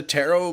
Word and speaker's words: tarot: Arrow cards all right the second T is silent you don't get scammed um more of a scam than the Charmander eggs about the you asked me about the tarot movie I haven't seen